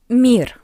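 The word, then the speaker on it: мир: Mir mir. We have e after m. That's why m is soft.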